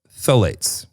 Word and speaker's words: phthalates: without parabens, sulfates, and phthalates. That's a new word for me. That's a new word, yeah, for both of us. Phthalates. Which is spelled with a PH first, which makes no sense.